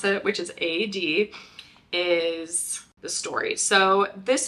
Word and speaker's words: Aeyde: interesting things about it other than how to pronounce it which is a d is the story so this is a really